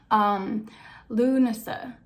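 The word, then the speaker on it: Lughnasadh: And then we have on August 1st, I always pronounce it wrong because of its spelling, and I learned phonetic spelling when I was younger. Lunasa, which is the Gaelic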